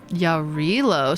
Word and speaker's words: Yarilo: Yarilo. So it pronounces it like uh like a Spanish J.